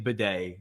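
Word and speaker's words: Badie: So Bedet. Yeah. He actually pronounces his name Bedet even though it sounds weird, but that's how he pronounces it.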